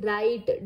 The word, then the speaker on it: write: So here W is silent and we have to now complete this. I always dash my homework neatly. Write W-R-I. T-E, write.